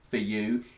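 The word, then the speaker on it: Fuh You: And then the next track is For You, and that is how to pronounce it. For You. It's a pun on the word for. It's not a swear word.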